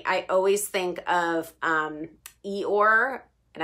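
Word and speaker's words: Eeyore: um e or and i have to actually try really hard to pronounce that name because um naturally i just want to say eat off because that's how i used to pronounce it um from winnie the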